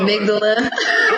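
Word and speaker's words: amygdala: was called it the amigdala is it is that how you pronounce it amigdala amigdala yeah amigdala AMD yeah so I'm gonna go with your pronunciation but that's fascinating what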